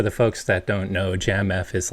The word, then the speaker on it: Jamf: that was discovered by jamf uh j-a-n by the way that's exactly how I pronounce it but I'm curious dude the people that work there call it Jam F jamf what what is that